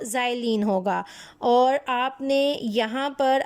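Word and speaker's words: xylene: उसको हम कहते हैं ज़ाइलीन। दिस इज़ नॉट, ये एक्स है लेकिन इसको जब प्रोनाउंसिएशन होती है तो एक्स को जी कहा जाता है, और ये आपके पास बन जाता है ज़ाइलीन।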